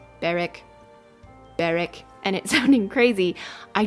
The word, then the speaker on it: Berwick: the last episode that I was saying Burwick the whole time and the name of the town is definitely pronounced baric that's a really bad